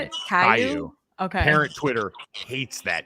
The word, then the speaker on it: Caillou: I knew Kalu was a very. Caillou. Is that how you say it? Caillou.